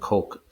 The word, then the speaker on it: Koch: Some pronounce that Koch, but it's a Heckler and Koch, and it's supposedly be a fully automatic machine gun.